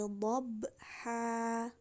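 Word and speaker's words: ضَبْحًا: Oke, kata dhabha di sini sebelum ada waqaf, seandainya kita membaca kata dhabha saja, itu akan menjadi dhabhan, ya kan? Karena harokatnya fathatain. Jadi bacanya dhabhan. Nah, ketika ada waqaf, maka akan menjadi cara bacanya an-nya itu dihilangkan menjadi seperti fathah biasa, panjangnya 2 harokat.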